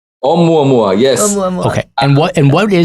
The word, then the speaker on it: Oumuamua: Waldman over here and tell us, how do you pronounce this Hawaiian name? Oumuamua? Oumuamua. Oumuamua, yes.